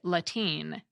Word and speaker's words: Latine: We also have Latine, but some English speakers may pronounce it Latine.